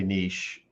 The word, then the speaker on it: niche: it many ways okay we say we say nietzsche like the philosopher oh i say niche what's your niche in